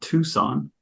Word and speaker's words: Tucson: think you got much wrong the town's called Tucson instead of T than that I think you're spot on okay how do you pronounce it Tucson Tucson okay we I I